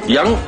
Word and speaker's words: 羊: 如意吉羊，我们还是读作羊。